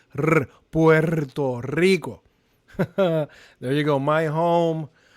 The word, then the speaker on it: Puerto Rico: Puerto Rico with R's. Rr. You gotta roll your R's. Rr. Puerto Rico.